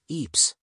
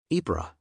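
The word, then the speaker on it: Ypres: speak Belgian or Woon Ken explained as it was a tongue twister word the S is silent and the r is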